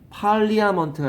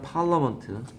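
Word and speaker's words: parliament: 프랑스는 내셔널 어셈블이라 그러고 영국은 파워먼트라고 발음 진짜 팔리아먼트가 아니라 팔라먼트 다이어트는 일본이나 스웨덴인데 나온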